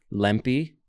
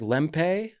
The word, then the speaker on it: Lempe: Lumpy. Most people don't know how to say my last name. It's kind of like Tempe, Arizona.